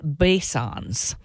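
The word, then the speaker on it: Boeshans: who is from Summit carbon Solutions named Wade basons and that's how he pronounces it it looks like bans but it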